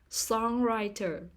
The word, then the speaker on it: songwriter: purpory water purpose tree songwriter songwriter the stress is on the first syllable songwriter perpeteer perpeter the stress